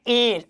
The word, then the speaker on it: heir: हमने लिखा एक वर्ड इसका है एयर, HEIR, इसका प्रोनाउंसिएशन है एयर, और हिंदी मीनिंग क्या होता है?